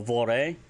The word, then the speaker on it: vor: So vore, V-O-R, Betten, E.